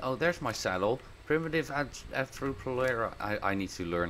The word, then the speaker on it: Arthropleura: light green and oh there's my saddle primitive Arro plera I I need to learn how to say this arthro plera there we go give you that saddle buddy